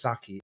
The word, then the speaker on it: Sacchi: to know now this person is Maro maros Saki and he joins us from Finland that is